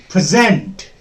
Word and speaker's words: present: Then we have present. When present is used as a verb, the second syllable will be stressed.